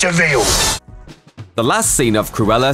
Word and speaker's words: de Vil: last name devel he spelled devil by his pronounced veal the last scene of cruella sets up the